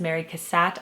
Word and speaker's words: Cassatt: of Mary Cassatt yes and the original chic assignment I pronounced her name as Mary Cassatt I have always called her that just from my art history class in college and plus I created a little rhyme for my children to remember her name Mary Cassatt had a very nice hat but as many of you pointed out her name is actually pronounced Mary Cassatt so I apologize for